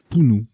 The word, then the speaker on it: punu: Punt et Pounou ou Punu, je ne sais plus comment ça se prononce celui-ci. Pounou, voilà.